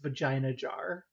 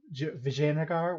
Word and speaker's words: Vijayanagar: Great for so long I thought this was pronounced vagina jar and I had codeine co-workers at the time